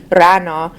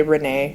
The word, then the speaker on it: Rana: My name is actually Iranian, and so I think it's a little bit difficult for people to pronounce the Iranian way, which is Rana. So it's a pretty tongue-rolling type of name, but it's just Rana, so thanks for pronouncing it correctly. Sometimes people say Renee, and I don't really get why.